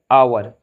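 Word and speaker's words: hour: बिल्कुल ध्यान से सुनना, जिन शब्दों में एच साइलेंट रहता है उनसे पहले एन का प्रयोग होता है। For example, an आवर, an honest man, N honourable man, an year.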